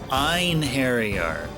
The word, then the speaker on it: Einherjar: I think it's Einherjar, Einherjar, because the E-I-N is Ein, and that looks like a German word.